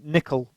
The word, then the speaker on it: N1QL: that familiarity so we we provide nickel we pronounce this n1ql which is a